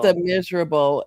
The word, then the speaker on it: Les Misérables: Yeah, it's it's Les Misérables in in English.